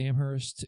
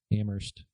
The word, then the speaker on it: Amherst: I think I went out to Amherst and East Hampton, Northampton area. Did you just say it? How did you say that? Say what? Amherst. The city. Amherst. The H is silent, bro.